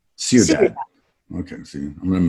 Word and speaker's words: Ciudad: Ciudad? Ciudad. Okay, see, I'm going to mispronounce a lot of things, so don't worry about it.